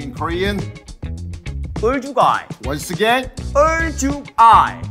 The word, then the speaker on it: 얼죽아: 얼죽아이.